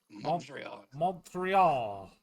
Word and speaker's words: Montreal: Let me let me pronounce Montreal how you're supposed to. Montreal. Montreal. Yeah, there you go.